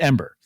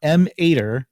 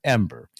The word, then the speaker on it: EM-8ER: for why the plant's name e-m-a-d-r but it's pronounced ember not m ater as so many have tried to convince me to call it but ember and it's actually in the japanese and the